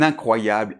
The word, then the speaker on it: incroyable: Donc je répète : nasale IN , ensuite CROY , et finalement YABLE . Donc un exemple : Un incroyable étudiant.